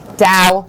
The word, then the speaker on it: Tao: yeah we learned that t-a-o is pronounced like a d dao horsemanship so carolyn